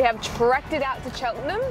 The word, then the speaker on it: Cheltenham: trekked it out to cheltenham is that how you say it cheltenham cheltenham like buckingham my surname but not